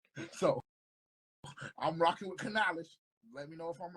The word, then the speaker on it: Canales: the new hire uh Dave Canales that's how you pronounce Dave Canales we gonna be on